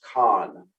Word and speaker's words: CON: you pronounce that even in davidson county it's pronounced con c-o-n they control the supply of health care